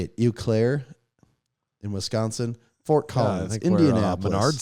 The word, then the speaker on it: Eau Claire: Bloomington Columbus Denver how do you say it Eau Claire in Wisconsin Fort Collins Indianapolis started oh yeah yeah Eau Claire okay we're there okay Iowa City lacrosse Lawrence